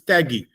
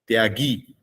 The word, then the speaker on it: tyagi: So he's saying, you repeat it, keep on repeating it 10 times, it becomes taggy. In Bengali, they will not use the Sanskrit pronunciation, tyaga, tyagi, taggy.